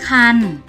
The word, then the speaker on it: ครรภ์: สะกด ใน มาตรา กน โดย จะ ไม่ ออก เสียง ตัว สะกด ที่ มี ไม้ ทัณฑฆาต กำกับ ค่ะ โดย จะ ออก